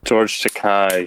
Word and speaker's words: George Takei: George Takei. Yeah, that's how you pronounce it.